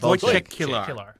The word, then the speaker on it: Wojciech Kilar: How do you pronounce Wolfrid Kilar? Wojciech Kilar.